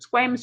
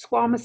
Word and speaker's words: squamous: there of squamous epithelium now you can call it square miss you can call it squamous I don't care just make sure that you can spell it correctly in lots of different